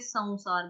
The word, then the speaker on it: संसार: अभी सौ में क्या है, अनुस्वार का उच्चारण आधा व होगा, सौ, जैसे संसार, उसमें भी पढ़ा था हमने स्टार्टिंग में, पहले वाले चैप्टर्स में भी पढ़ा संसार शब्द की कैसे संसार बोलना, संसार।